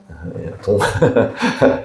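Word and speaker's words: đồng: 달라고 그 베트남 가면은 이제 베트남은 발음을 잘하셔야 됩니다. 동 좀 세게 하시면 안 됩니다. 동 그 저번에 몽골 저희가 갔을 때 쓴 것이 이제 투그릭이라 이렇게 몽골 용어를 립자가 많이 들어가더라고요.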